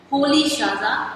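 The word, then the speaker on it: Rolihlahla: So his full name was Nelson Holy Shaza Mandela.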